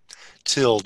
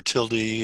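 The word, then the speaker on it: tilde: switch between the tabs control what tilled or tildy it depends on you want to pronounce it oh well there you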